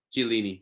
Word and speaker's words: Chiellini: Lukaku would like the thing about the Juventus defenders, Bonucci and Chiellini, I forget how to pronounce it. The one is Suarez. Chiellini. Chiellini, that's it, Chiellini.